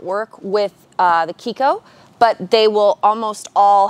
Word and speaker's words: Chicco: Vista if you wanted the kiko and some people say Chico they ask that we pronounce Akiko which means child in Italian the folks at Kiko